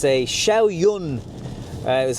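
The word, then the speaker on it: Xiaoyun: car I just jumped into it it's a shiao Yun uh is how you pronounce it uh petrol engine never driven a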